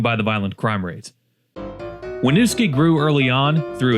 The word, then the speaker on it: Winooski: Number nine is Winooski. It's pronounced as Winooski, you idiot.